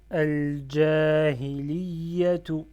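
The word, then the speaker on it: الجاهليةُ: Et là, je lis Al-Jahiliyatu. Je fais shadda sur le ya.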